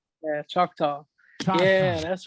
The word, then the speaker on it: Choctaw: durant the where from durant i i can't pronounce the casino name but chop cha-cha cha yeah choctaw yeah that's right that's right they got a